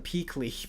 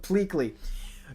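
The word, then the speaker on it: Pleakley: I always call him Pley but Pleley.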